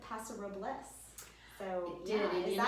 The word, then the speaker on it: Paso Robles: I'm a yokel, so I continue to say Paso Robles, but I do believe the proper pronunciation is exactly what you say.